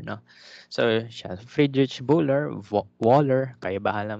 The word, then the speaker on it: Wöhler: So siya, Friedrich Wöhler, Wöhler, kaya bahala mag-pronounce, no. Pero W's are pronounced as V's in German, no.